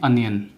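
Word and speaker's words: onion: उसके बाद प्याज, प्याज को हम ओनियन नहीं बोलते हैं, ओनियन नहीं बोलते हैं, इसको बोलते हैं अनियन।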